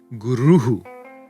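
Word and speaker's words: गुरुः: Ramaha, gatihi, guruhu, etaihi, and so on.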